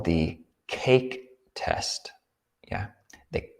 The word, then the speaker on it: KAK: we can call the cake test yeah the k a k test you could pronounce it cac test but that's less exciting but the cake test with a long a k a k is